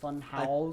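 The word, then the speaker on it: Funhaus: fun Haw fun house fun house I think it's house it's supposed to just be pronounced house I think um what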